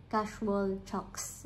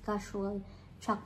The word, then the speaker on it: Casual Chalk: Tapos pala ang daming nag-correct sa akin hindi daw casual chucks. Wala daw s casual chalk lang.